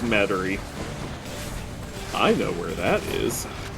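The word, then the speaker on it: Metairie: in okay let me is it metary no yes it is battery i'm so used to you intentionally mispronouncing that that i said no before you said it yeah i usually just call it materia to piss off um but yeah it's it's it's metary i know where that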